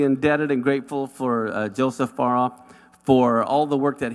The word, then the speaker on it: Farah: So, I thought I would teach him how to pronounce my name properly. It's Farah. Farah.